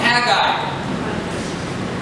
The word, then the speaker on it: Haggai: So my professor said you pronounce it Haggai. And then when we looked it up in the Hebrew, it says it is a 3-syllable word, not 2 syllables.